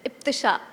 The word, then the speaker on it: Iptisha: I'll say it once again because people have a tendency to mispronounce it. It's Iptisha.